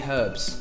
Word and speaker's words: herbs: oops there's an H there's an H at the beginning so do you not say that Silent Age a silent h we'd say herbs herbs herbs Tartan what